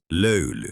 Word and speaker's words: löyly: Löyly. Từ này khó phát âm quá. Nó có hai chữ y liền nhau không? Có. Löy-ly. Hãy nói chậm thôi. Đầu tiên là "löy", sau đó là "ly".